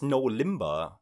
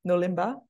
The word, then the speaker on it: NoLimbah: in Bahasa Indonesia because it is very simple for any foreigners to pronounce it there's no hard letter there's no r that can be pronounced in different ways you know all the sounds are very easy to say for any any language